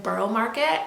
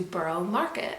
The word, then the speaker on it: Borough Market: we headed over to Borough Market. I think it's actually pronounced Borough Market, not Borough, but anyways, I digress.